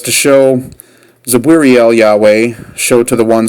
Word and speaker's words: Zabwiriel: And these are why these names are so difficult to pronounce, is because there's no vowels in between them, and you kind of have to make them up as you go along, because it's just really impossible to pronounce them otherwise without having something in between, like a vowel.